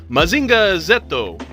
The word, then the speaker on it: Mazinger Z: spelled mazinger Z but outside of America the letter Z gets pronounced Zed by just about every other English-speaking country and the theme song in the Japanese audio refers to him as mazinga zetto so Zed is what